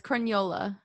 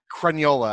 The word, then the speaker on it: Crugnola: D&D podcast this is Mike Allison and nola hopefully I got that right I was it actually pronounced its crayola crayola I should oh there you go we're off